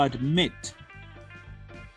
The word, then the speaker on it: admit: To admit. Escuchen de nuevo. Admit. La fuerza vocal viene en la última sílaba.